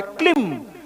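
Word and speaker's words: क्लीं: क्लिम इसका सही उच्चारण है क्लिम।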